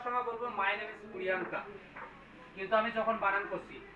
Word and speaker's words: Priyanka: তাহলে পি, সবাই আমার সাথে বলো, পি আর আই ওয়াই এ এন কে এ, প্রিয়াঙ্কা। ওর নামটা হচ্ছে প্রিয়াঙ্কা, কিন্তু বানানটা হবে এইরকম করে।